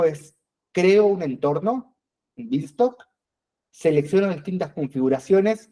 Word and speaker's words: Beanstalk: La segunda opción de cómputo es Amazon Elastic Beanstalk. Así se pronuncia, Beanstalk.